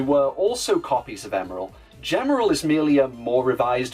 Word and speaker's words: Gemerl: And yes, it's pronounced Gemerl, not Gemerl or Gmail or Gmail or what I mean, Gem, Emerald, Gemerald.